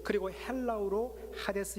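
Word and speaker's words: Hades: 가 뭐냐면 하겠습니다 그래서 영어 발음 하신 분들은 헤이 디스 라고 이렇게 발음을 하는데 하베스 자 여러분들 2기 브리오 로서 올 그리고 헬라 우로 하데스 의 의미가 뭘까 여러분들 이것을 문맥을 통해서 보면요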